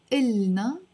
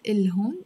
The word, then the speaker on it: إلهن: And إلن, again, without pronouncing the ha, it's not إلهن, it's إلن. Of course, if you say إلهن, it's not wrong, but we tend to pronounce it in Lebanese without the ha.